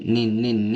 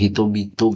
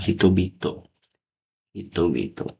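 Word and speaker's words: 人々: Kaigan kaigaini nin nin niiri ini cara baca ninin atau bukan? Coba kita nin nin astagfirullah. Hito bito, guys. Lupa gua. Hitobito hitobito.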